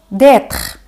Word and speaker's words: d'être: D'être. Y se pronuncia así, d'être. Y como os he dicho antes, la letra E al final de la palabra no se pronuncia.